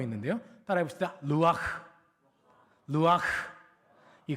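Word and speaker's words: רוח: 하나 더 있는데요 따라해봅시다 루아흐 루아흐이 흐 발음이 이렇게 안에서 가래뱉기 직전처럼 흐 해야 되거든요 한번 따라해 볼까요 루아흐이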